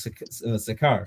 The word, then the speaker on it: Sychar: It says, "Then cometh he to a city of Samaria, which is called, is it Sychar? Am I saying it right? Yes, Sychar.